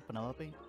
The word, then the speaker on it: Penelope: Is that short for Penelope? Officially, yes, but I never can be bothered with all 4 syllables.